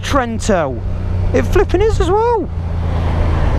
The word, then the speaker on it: Trento: It's Toronto. Set navigation to Trento. See if it works. Oh, it is pronounced Trento.